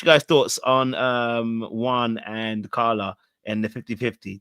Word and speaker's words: Juan: why in Spanish the J is is is pronounced like a like a w or Y depending you know okay fair enough so Juan Juan I have to remember that okay so